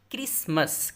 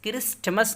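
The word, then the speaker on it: Christmas: क्रिसमस, क्रिस्टमस नहीं है, टी नहीं पढ़ना है, साइलेंट है, क्रिसमस, योम क्रिसमस।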